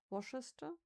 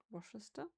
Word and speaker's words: Worcester: I'm confident how to pronounce it. Worcester. Worcester. Definitely, I know that there's no shire in it.